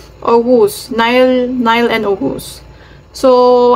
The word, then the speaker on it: Oğuz: name niya is Ow ogus silent G kasi siya eh ogus Nile Nile and ogus